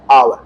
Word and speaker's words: hour: देखो भैया आवर, अब अभी एक प्रश्न करवाया था, वहां पर था आवर्स, यहां पर है आवर। ये सिंगुलर एक आर की बात कर रहा है, इसका उच्चारण होता है आ, क्या लगेगा?